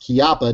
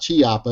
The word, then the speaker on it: Chiappa: when they when I tell people that it's pronounced kiaa not Chiappa and they're like where you getting that from